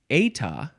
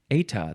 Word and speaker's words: eta: This is, it's eta. Eta, that's how it's pronounced. But in Britain, and I'm not in Britain, but in Britain, they pronounce it eta. Eta or eta, and it is spelled eta.